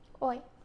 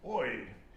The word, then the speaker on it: hoy: Hoy. Hoy. H-O-Y. And why don't we say hoy? Because the H is silent.